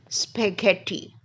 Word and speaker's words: spaghetti: called A Hard G the s word is spaghetti now the GH is in the middle of the word and what's this sound you can hear is again hard g g spaghetti so when GH is